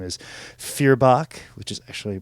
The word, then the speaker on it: Feuerbach: We're actually saying it incorrectly because it's Feuerbach is how it's supposed to be said.